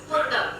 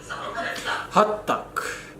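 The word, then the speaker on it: Hotteok: I said hot dog. Yeah, Hottoek. Yeah, good pronunciation. Hottoek.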